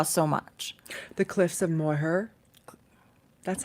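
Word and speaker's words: Moher: that I'm just reminiscing the H is silent Mo Cliffs of Mo okay Daniel that's what Daniel says okay moh I hope it didn't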